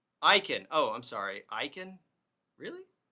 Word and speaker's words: Akin: So obviously this is what this pushback is coming from Catholic, Orthodox Christians who are, okay, Jimmy Akin's last name is pronounced Aiken.